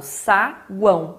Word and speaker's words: saguão: Então, eu falo saguão, eu não falo saguão, né?